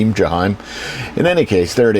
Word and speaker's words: Jaheim: It's Jaheim.